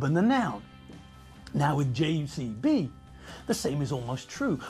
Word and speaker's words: JCB: the answer that's a JCB and did you notice the pronunciation yes that's a J not the G at the beginning Michael J Fox drives